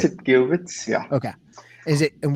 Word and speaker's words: qubits: is it is pronounced it's cubic so we pronounce it cubits yeah okay is it and why are they